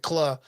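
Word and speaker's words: Kluh: And I can't even pronounce it. Claw. It's Claw.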